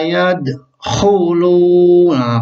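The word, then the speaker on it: يَدْخُلُونَ: Dibaca pangkal tenggorokan seperti yad hulu. Jelas hulu, yad hulu nafi. Jadi bagaimana cara bacanya? Yad hulu. Oke, saya ulangi, kita ulangi. Wa ra'aitan nasa yadkhulu. Nah, bagus.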